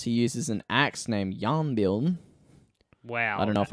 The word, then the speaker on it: Jarnbjorn: no, Just don't pronounce the J, and it's simple.